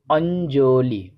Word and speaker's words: অঞ্জলি: ইয় জয় যুক্ত এর বাংলা উচ্চারণ নজ এর মতো হয়। উদাহরণ হিসেবে বলতে পারি অঞ্জলি, অঞ্জলি, সঠিক উচ্চারণটা হবে অঞ্জলি। এর পরের যে যুক্ত অক্ষরটি